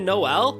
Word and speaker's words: Noel: Oh, so they're actually pronouncing it Noel?